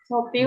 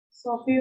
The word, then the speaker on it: Sophie: Sophie was really. Sophie ya, bukan Sophie. Sophie. Pakai F, bukan pakai P. Walaupun di situ pakai P, tapi bacanya pakai F ya, Sophie.